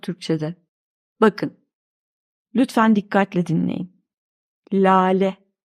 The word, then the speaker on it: lale: Lale. Baştaki L de inceliyor.